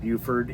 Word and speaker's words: Beaufort: And she said a great way to remember is it's beautiful Beaufort. And so they call it Beaufort there in South Carolina.